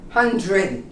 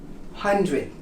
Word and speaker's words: hundred: like a hun dre it's a j again with an r hundred hundred it's not 100 with you can't really hear a d but here in the united states it almost becomes a very subtle j 100 hundred how about did you